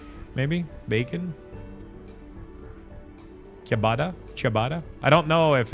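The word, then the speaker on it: ciabatta: Chabatada. Chabatada. So yeah, that's Bro, I It's like an Italian word, so it probably has or looking at Julian's pronunciation.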